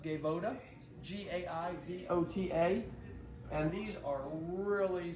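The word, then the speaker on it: Gaivota: we found this brand out of brazil it's pronounced gaevoda g-a-i-v-o-t-a and these are really soft and supple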